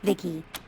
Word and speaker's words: VICI: pronounced vicky my creator yep i'm vici pronounced vicky came out here to